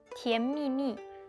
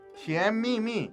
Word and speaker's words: 甜蜜蜜: 천밀밀이 중국어 발음이 어떻게 되죠? 甜蜜蜜. 甜蜜蜜.